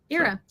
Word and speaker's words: Ira: respond to anything yeah it's like the IRA and the era because apparently to everybody in Asia uh and Africa and also parts of Europe uh you pronounce it era era well you can call